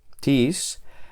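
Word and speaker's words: τις: Esta palabra, tis, es enclítica. Enclítica. Y eso significa que se pronuncia normalmente con la palabra anterior y su acento recae sobre la última sílaba de la palabra anterior.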